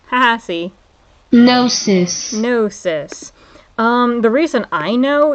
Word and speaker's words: Gnosis: Gnosis. Haha, see? Gnosis. Gnosis. The reason I know is because there was this fucking video game. Yeah, the G is silent, but yeah, there was